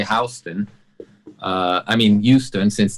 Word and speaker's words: Houston Street: have you been to this yeah i mistakenly pronounced it houston street when i was there and it took a